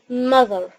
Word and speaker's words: mother: هنا كلمة mother احنا متعودين نقول ما، لا غلط، نقول mother mother mother. والتي اتش صوتهم زز، فنبين التي اتش نبين ان احنا طلعنا جزء من لساننا، فنقول mother mother.